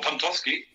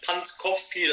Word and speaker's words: Pantkowski: Also ich sage immer nur Pantowski. Also viele überlesen einfach dieses K nach dem T noch. Ja. Und das eigentlich so schwer ist es nicht, aber dann dieses Pantkowski, also manche kriegen es